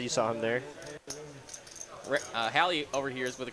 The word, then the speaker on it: Hallie: Excuse me, Hallie, for pronouncing your name Holly for so many streams. I did get corrected by Tyler earlier. I've been saying Holly this whole time, but it is in fact Hallie, so I do apologize.